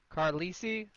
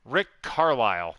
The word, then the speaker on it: Carlisle: ding for this one rick carlisi carlos lee how do i say his name connor rick carlisle not even close not even go that